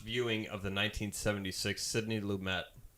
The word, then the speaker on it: Lumet: So as we talk about our first viewing of the 1976 Sidney Lumet. It is Lumet, not Lumet. It's Lumet, really?